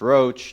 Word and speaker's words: Roche: And mine Roach, pronounced Roach traditionally.